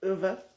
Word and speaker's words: Ove: I listened to the book on CD, which is how I know that the proper pronunciation is Ove.